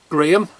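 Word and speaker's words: Graeme: So Graham, his name's Graham, but it's spelt different to my Graham. I've got the H and he's G-R-A-E-M-E, but it still sounds the same, but Graham.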